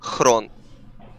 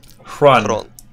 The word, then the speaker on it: Xron: And correct pronunciation is Xron. Xron. All right. Xron, yeah. Xron. But I know it's pretty painful for most of like players, casters to pronounce it. So I'm saying like you can call me however, I don't mind. But yeah, correct one is Xron.